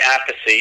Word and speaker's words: Appice: from New York Carmine Appice and Vinny Appice calls himself Vinny apathy is his younger brother which they they didn't explain why they pronounce the names differently but that they're super